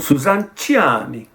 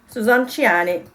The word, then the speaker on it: Suzanne Ciani: I want you to pronounce her name. Suzanne Ciani. Suzanne Ciani.